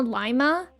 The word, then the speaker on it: Lima: I think the Ohioans pronounce Lima Lima. Oh, really?